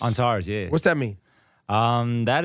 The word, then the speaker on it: Antares: Antares? Antares, yeah.